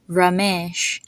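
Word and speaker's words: Ramesh: vowel is e so e is pronounced like e like as in bed or never or egg so you would see this in the name yoges or in the name rames the other way to pronounce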